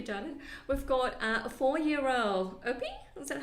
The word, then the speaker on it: Opie: We've got a 4-year-old Opie. Is that how you say it? Opie.